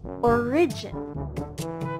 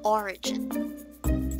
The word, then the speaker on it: origin: Origin. Origin. Take note that that was wrong, okay? Shouldn't be saying origin, but the correct one should be origin. So, the stress is on the first syllable again.